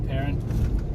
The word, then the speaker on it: Peron: Just for those playing at home, I prefer Cape Peron. Steph likes to use the fancy French pronunciation. Well, I think it's a French name, so it needs the French pronunciation. Frankie Peron.